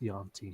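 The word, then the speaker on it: yuan-ti: It's pronounced Yanti.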